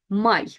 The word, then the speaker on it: Май: Май, май. And I know it sounds like M-Y, May, but it actually is May, like the month of May.